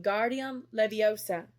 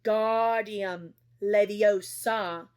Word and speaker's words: Wingardium Leviosa: much more luck when guardium Leviosa he shouted waving his long arms with a windmill you're saying it wrong Harry heard hermani snap it's when guardium leosa make the gar nice and long you do it then